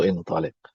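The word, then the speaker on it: انطلق: Jadi, yang satu dibacanya intalaq dan satu intaliq dan langsung beda maknanya.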